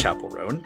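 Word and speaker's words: Chappell Roan: It's Chapel Roan.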